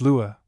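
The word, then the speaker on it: Lugaid: The original Celtic name laid pronounced Lua became changed as in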